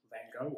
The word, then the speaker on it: van Gogh: 19th century Dutch painter, Vincent van Gogh, or Van Gogh, however you wish to pronounce it.